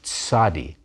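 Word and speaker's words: צדי: end of a word not hard to pronounce you say it like the combination TS in English don't be fooled you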